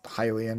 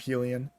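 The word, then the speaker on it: Hylian: So, it's started to set in my mind as Hilian instead of Helen.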